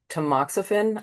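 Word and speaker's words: tamoxifen: fifth year of um the hormone therapy um tmoxifen.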